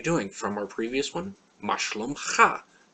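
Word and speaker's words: מה: is ma ma again this is a good one to show that H at the end of a word not being just a vow character here it just shows that there's an a sound and the word means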